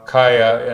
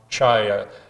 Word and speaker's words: Chayah: propose to showcase now kaya in this instance you would pronounce or you'd expect to pronounce chai the ch makes a k it's an ancient word